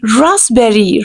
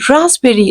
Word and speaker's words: raspberry: Actual pronunciation will be raspberry, raspberry. Like we have to pronounce S and P, we have to give the sound of Z to S and P.